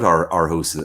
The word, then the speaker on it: Aarhus: And you, by the way, just I have to ask you, did I pronounce Aarhus correct in Denmark? Aarhus.